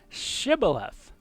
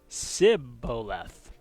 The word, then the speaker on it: shibboleth: say to him then say shibboleth and he would say sibboleth for he could not pronounce it right so the sh sound was something that was difficult for uh certain people obviously in Israel to say and uh and so